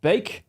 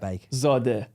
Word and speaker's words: Beiikzadeh: Beik, like bake. Bake. Beiikzadeh.